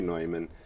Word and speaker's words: Neumann: in writing father well they pronounce the name differently in different places yeah and uh there seems to be some indication that maybe he pronounced it newman when he was here that he anglicized it but it should be neumann and now with cardinal